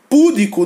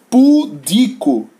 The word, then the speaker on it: pudico: Púdico não existe, existe a palavra pudico, que significa casto, inocente, né?